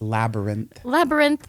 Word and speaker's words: Labyrinth: day we went up to what is it, Labyrinth? Stop it! Listen, I will politely put one in there for that. Labyrinth. Labyrinth. Yeah, isn't that how you pronounce that? Byron. Yeah. Isn't it Labyrinth? No, it's Labyrinth.